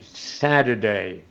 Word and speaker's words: Saturday: Y en la última palabra en la última línea, Saturday, Saturday.